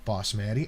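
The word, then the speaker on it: basmati: It's pronounced boss Maddie.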